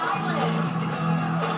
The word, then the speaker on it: Island: Đấy, ta nhớ cái chữ Island không bao giờ có chữ S. Thì không đọc là Iceland mà đọc là gì? Island. Rhode Island, South Carolina, South